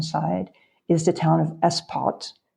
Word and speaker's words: Espot: is the town of espot es P O T espot and I checked the t is pronounced I thought it would be ESP po but it's ESP poot that's one of those